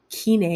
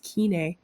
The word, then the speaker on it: Kenai: Kenai. I didn't know how to pronounce that until we started the cruise. Kenai.